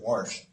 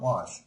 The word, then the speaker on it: wash: hours here's a word how often have you heard somebody pronounce it warsh you know what they're saying it just comes out was not wash I have a theory